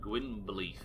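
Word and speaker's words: Gwynbleidd: Because we appreciate that Gwynblade's name should be pronounced Gwynbleith or something along those lines, but we don't pronounce it that way because they don't in the game for some reason.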